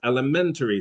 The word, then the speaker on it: elementary: Um, but what she meant to say was elementary school, elementary school, elementary school. Here it's the same sound. Red dress lem, red dress men, but where you put the stress makes a difference in whether you can be understood.